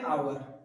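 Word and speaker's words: hour: हो जाएगा ठीक है इसको हम पढ़ते आवर इसको पढ़ते आ एच साइलेंट मोड में रहता है ठीक है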